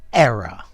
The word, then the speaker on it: error: one the noun is error error this is my pronunciation error error it's a weird pronunciation I think um it's got a schwa at the end error error um what's